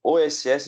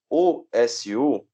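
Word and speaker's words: 押忍: O OSU, ou OSS, você pronuncia, né, geralmente com o som do S, o U fica mudo.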